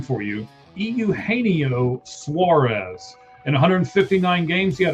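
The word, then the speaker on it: Eugenio Suárez: I'm going to help you pronounce his name for you. Euaneo Suarez.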